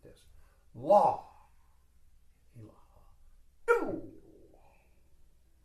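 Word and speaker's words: إله: At the end of the motion, while at the crown center, say Ilaha. Do not say Ilaha strongly. The strength or accent is on La, thusly. La.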